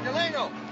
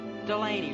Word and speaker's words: Delaney: Hey, Delano. Delano. Hey, you were all right out there. It's Delaney. Delaney.